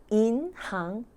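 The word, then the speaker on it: 银行: 그 다음에 은행이 무엇입니까? 인항. 싱 하면은 가다라는 뜻인데, 항이라고 읽으면 업종이라는 뜻이에요. 그래서 항예가 바로 업종이라는 뜻입니다. 그럼 돈 관련 업종이 인항이 되는 것이죠.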